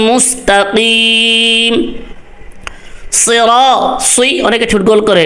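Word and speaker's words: صراط: আওয়াজ হবে ইহ দিনাস সিরাতাল মুস্তাকিম সিরাত সুই অনেকে ছুট গোল করে এখানে সদ হবে সিন হবে না সি হবে না সিরাত পুর সিরাত শক্ত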